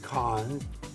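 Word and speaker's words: Cannes: some people pronounce it Con spell actually the profanation is KH yes it's KH like the French pronunciation spelled c a an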